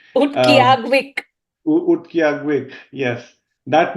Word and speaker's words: Utqiaġvik: Utqiaġvik. My God, I might be just like Utqiaġvik. killing the name, but Yes. if I pronounce it more letter by letter, that's how it sounds.